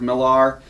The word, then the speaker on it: Millar: Joe Kelly, Jonathan Hickman, Brian Michael Bendis, Marguerite Bennett, Matt Wagner, Jason Aaron, Jason Latour, James Asmus, Mark Millar, or Miller, depending on how you want to pronounce that, Paul Jenkins, Philip Tan, G.